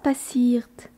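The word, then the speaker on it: passiert: i e r t remarquez comme la dernière syllabe est accentué dans passirt cela vient aussi du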